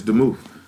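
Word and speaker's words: דְּמוּת: The word, I'm going to mispronounce it. It looks like it's demuth. Hold on. Strong's H1823. I was right. It's demuth.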